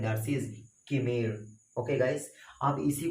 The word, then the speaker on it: chimera: CHIMERA, पता है इसे क्या पढ़ते हैं, किमीरा, जबकि किमीरा इसका प्रोनाउंसिएशन किमीरा नहीं होता सर, इसका प्रोनाउंसिएशन होता है किमीर।